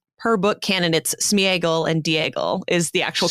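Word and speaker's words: Sméagol: pulls from is that that vowel is actually supposed to get its own uh syllable its own pronunciation so it's not smeagle and deagle her book candidates Smeagol and Diego is the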